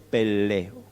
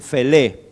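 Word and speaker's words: פלא: O algunos dicen Felé, pero esta letrita acá al principio de la palabra, que es una P o una F, al estar al principio de la palabra se pronuncia como una P.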